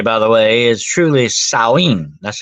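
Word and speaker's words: Samhain: of the holiday by the way is truly saen that's how you pronounce it some people say thinks it's pronounced Sam H but no it's saen it's a it's a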